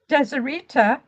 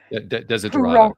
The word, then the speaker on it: Desiderata: And then Desideritas, if I'm pronouncing his name right, Desideritas. Desiderata, yes.